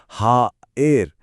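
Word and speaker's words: haïr: इसी तरह हेयर का उच्चारण होगा हा एर जिसमें आ और इ की आवाजें एकदम अलग-अलग सुनाई देती हैं।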